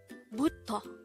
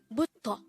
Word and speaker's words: 부터: Butto. Butto. This is pronounced as a two-syllable word. The first syllable is bu, the second syllable is to.